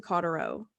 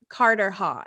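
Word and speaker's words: Carterhaugh: One fortnight past came you to Cotterrow. Oh, Cotterhaw. Sorry, already off to a bad start. Carterhaw is how it's pronounced.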